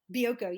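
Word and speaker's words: Bioko: I was on the how do you pronounce it? Bioco. Bioco.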